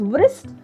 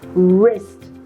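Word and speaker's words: wrist: शुरू हो रहा है सो we don't pronounce it एज ब्रस्ट डू वी क्योंकि डब्लू की साउंड होती है व हम सो डू we pronounce it एज वृस्ट वृस्ट है वृस्ट बैंड है वृस्ट वच है नो we keep letter dull silent and we pronounce it एज रिस्ट what do we pronounce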